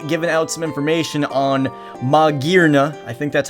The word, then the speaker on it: Magearna: out some information on Maga I think that's how it's pronounced now uh instead of magana or maana it is Mna I'm assuming it's that because you know like gear like metal steel it's human made I